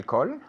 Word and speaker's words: call: Se escribe con una A, pero se pronuncia como si fuera una O. Call. Y es largo, okay?